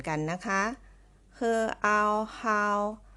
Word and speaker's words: 好: แล้ว ก็ O ค่ะ คือ เอา ฮาว เหมือน กัน แต่ วรรณยุกต์ ค่ะ ที่ แตก ต่าง นะ คะ วรรณยุกต์ จะ ออก เสียง เป็น เสียง ที่ 4 ค่ะ เดี๋ยว เรา ผ่าน